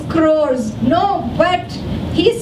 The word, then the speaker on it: crores: No, but L sound is coming, clores. I said, no, it's crores.